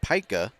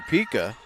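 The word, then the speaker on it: Pyka: Her last name is actually Pika, P-Y-K-A. It's kind of pronounced just like it looks like. But I ended up calling her Pika, and so now they're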